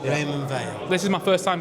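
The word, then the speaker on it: Raymond Weil: Well, if you're from the UK, Raymond Veil.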